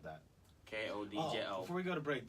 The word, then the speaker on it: Kodjo: Make sure you don't forget the D, because the D is silent. You better spell it. Kodjo. That's Kodjo.